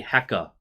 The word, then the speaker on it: Hacker: Actually, they don't really pronounce the R. It's actually hecka.